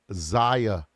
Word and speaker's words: Xiyya: I believe her name is pronounced Zia Jackson.